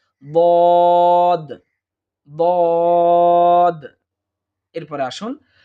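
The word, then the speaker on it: ضاد: একইভাবে বদ, এইটা আমরা ভুল করে থাকি এভাবে যে দোয়াদ দোয়াদ, এইভাবে হবে না, বরং বদ বদ।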